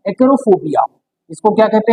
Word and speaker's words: acarophobia: तो ऐसा डर अगर किसी व्यक्ति को है तो ऐसे डर को हम कहते हैं एक्रोफोबिया। इसको क्या कहा जाता है? एक्रोफोबिया।